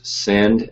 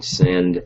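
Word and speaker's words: Synnd: I've used Send, S-Y-N-N-D, I think. It's spelled kind of funkily. It's like syndication. It's like the first part of that word.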